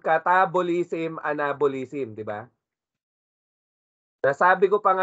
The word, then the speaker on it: catabolism: Naririnig natin module 1, catabolism, anabolism, di ba? Nasabi ko pa nga noon sa module 1, pag catabolism, it rhymes with cat.